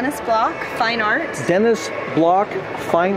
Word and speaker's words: Bloch: Yes, actually we pronounce it Denny in France. It's Denny Block.